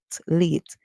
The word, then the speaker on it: late: America this word late the e at the N is silent we hear the short the long a song sorry that's where the vow call its name so we say late if not you can